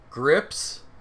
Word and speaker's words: Gripsed: is it Grips? Grips, how do you pronounce it correctly? It is Gripsed. pronounced grips as in the Jarvis.